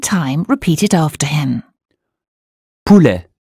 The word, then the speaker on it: poulet: Poulet. U or OU? Ou as in zoo. Poulet.